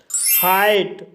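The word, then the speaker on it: height: हाइट, हाइट शब्द में EI के बाद GH आया है, इसलिए GH साइलेंट रहेगा, इसलिए इसे हाइट पढ़ा जाता है।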